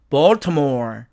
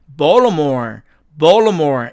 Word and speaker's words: Baltimore: 자, 그 다음에 F번 이 단어의 사전식 발음은 Baltimore 이렇게 됩니다. 자, 그런데 또 을 트죠? 그러니까 트가 사라져서 원어민들은 이 단어를 Baltimore 이렇게 발음하기도 한다는 얘기입니다.